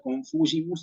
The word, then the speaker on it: confugimus: El acento va en la antepenúltima sílaba, confugimus, subtum presidium confugimus, y tenemos la cuestión de la G con la I, que en latín eclesiástico la pronunciamos como G, como ya, ve, igual aquí, como G, confugimus, ¿sí?